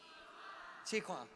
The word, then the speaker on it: Jigwang: How do you say his name? Chiquan. It's almost like the Ricky Martin song.